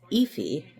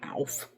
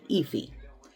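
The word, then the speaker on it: Aoife: on um Google how to pron how to pronounce her name um it's epy if you're wondering um cuz I kept calling her Alf and then when I looked at the pronunciation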